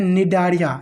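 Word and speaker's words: Cnidaria: सिलेंटेट्रा संघ का जो नया नाम है सिनेड्रिया इसको कहते हैं निडारिया। यानी सी यहां पे क्या रहता है? साइलेंट रहता है।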